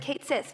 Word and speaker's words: Cait Sith: That's right, I said Cait Sith because I'm an American. That's how Americans say it.